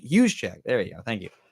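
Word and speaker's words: Juszczyk: know how you say it h Che H hu Che there you go thank you uh plays fullback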